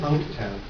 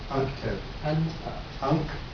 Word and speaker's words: UNCTAD: It's pronounced UNCTAD. UNCTAD.